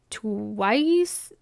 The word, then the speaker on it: TWS: name is twws but in Korean I believe it's pronounced like twice twice it it kind